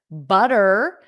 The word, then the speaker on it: butter: out of and then butter. Those two T's will become a soft d. Dur dur dur butter.